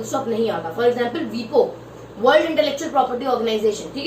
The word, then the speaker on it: WIPO: क्यों नहीं आता है, क्योंकि वीपो को अपन वीपो प्रोनाउंस करते हैं, WIPO नहीं करते, ठीक है, इसलिए वीपो के बीच में ऐसी सब जगहों पे फुल स्टॉप नहीं आएगा।